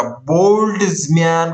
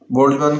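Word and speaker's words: Boltzmann: तापर आसीबो 30 नंबर रे हम कोन देखिया बोल्ट्जमैन कांस्टेंट देखो उच्चारण करला को बहुत कष्ट लगे किंतु टेंशन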